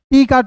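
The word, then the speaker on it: talk: क तो हो जाएगा टॉक टी ए एल के टॉक उसके बाद देखिए टी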